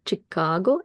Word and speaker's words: Chicago: where I teach, and students pronounce Chicago as Chicago using this sh sound that basically is represented by the letter sh.